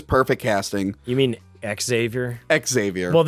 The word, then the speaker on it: Xavier: Xavier. Well, it's Xavier, but like they pronounce the X because it's Professor.